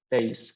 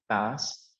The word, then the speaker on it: bass: Okay, now this word is pronounced bass, not bass, and it's the lowest pitched member of the guitar family.